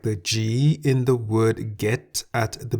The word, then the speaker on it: กิน: Why the middle tone? Well, the single syllable in the word gin is a live syllable because it has a sonorant final consonant no nu. Gin begins with a middle class consonant Go Gai.